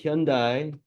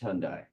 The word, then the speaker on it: Hyundai: lease options for a Hyundai Accent well I'm happy to I believe it's pronounced Hundai uh but it could be Hyundai uh I don't know if the Y is particularly accented uh with a lot